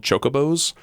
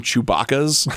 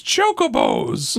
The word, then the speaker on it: chocobos: horses and every game called chocobos uh but my dad pronounced them Chewbacca I love it and